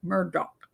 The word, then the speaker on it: Murdaugh: only thing I want to say I'm uh Murdock as his name actually is pronounce all right now I want to talk